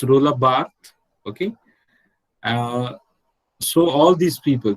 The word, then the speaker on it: Roland Barthes: I said Roland Barthes, not Roland. It's Roland Barthes, okay?